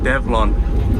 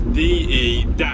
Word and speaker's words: Develon: I'm sure I was told how to say it, but, well, I mean the name is a combination of the 2 words development and onwards, apparently. So going by that, Develon.